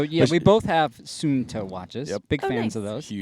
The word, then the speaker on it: Suunto: Suunto. Suunto. Suunto. Suunto. Soon, like very soon, and Like, toe.